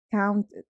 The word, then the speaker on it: counted: Ya que este verbo termina en T, lo vamos a pronunciar con la terminación ed, counted, counted.